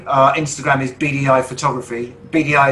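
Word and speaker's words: Beady Eye: instagram is bdi photography bdi is spelled b-e-a-d-y-e-y-e rather than the initials bdi uh we're not particularly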